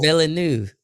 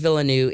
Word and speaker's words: Villeneuve: Denis Villeneuve.